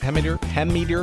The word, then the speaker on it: Hemmeter: You mentioned Christopher Hemmeter. Hemmeter, is that how you say it? Hemmeter? Yep.